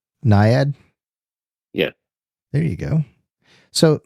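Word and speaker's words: naiad: comes from the nymphs and the goddess like niad or I can't pronounce it but it's n a i a d niad.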